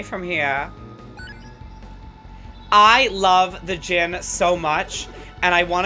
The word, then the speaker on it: Djinn: here i love the gin so much and i want to get them i always call them dejin because i didn't know how to pronounce it properly i think i'm saying it right now without the power of